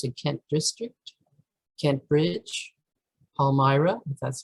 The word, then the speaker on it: Palmyra: three active branches in kent district kent bridge palmyra that's how you pronounce it and wabash so why did we